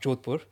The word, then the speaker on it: Jodhpur: And so, as I said, we shifted from region in Gujarat to Jodhpur, pronounced Jodhpur, in case any Indians watch this podcast and think, he's gone all English on us.